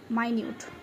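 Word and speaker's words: minute: এখানে হয়ে যাবে মাইনিউট উচ্চারণটা মাইনিউট মানে সূক্ষ ডিটেল মানে বর্ণনা করছে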